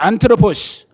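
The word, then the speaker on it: ἄνθρωπος: 안트로포스. 이게 발음은 뭐 상관없어요. 안드로포스라고 그래.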